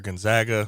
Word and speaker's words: Gonzaga: Gonzaga or Gonzaga?